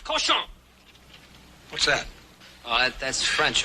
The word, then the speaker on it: cochon: This barn is not fit for man nor coach on. Butcher. Better to spend the time killing the roaches in your plague-ridden bistro than murdering my rhymes. The word is pronounced cochon.